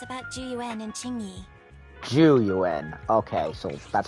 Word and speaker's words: Zhu Yuan: with you Wise It's about juu and chingi juu okay so that's how you say it what